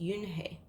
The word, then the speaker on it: Unhei: hate corrected it's filled UNH II I it's pronounced Yoona hey oh it's you Hey the boy said like